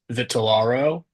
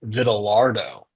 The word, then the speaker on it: Vitellaro: But one of the bully names that people tried to do, they took my last name, which is pronounced Vitellaro, and they would pronounce it Vitellardo.